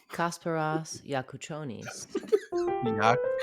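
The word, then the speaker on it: Kasparas Jakučionis: Presents how to pronounce Kasparas Yakuchonis. Kasparas Yakuchonis. Okay. Kasparas Yakuchonis. So I wasn't even going to attempt to say that one because I knew I would butcher it. So it's Kasparas Yakuchonis.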